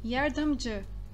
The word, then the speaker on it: yardımcı: Então, vocês vão fazer essa pronúncia bem rápida. Não é dia, é J. Yardımcı.